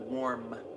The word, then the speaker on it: warm: But it sounds like warn, like a warning. So you have to really pronounce that warm enunciate that M right there.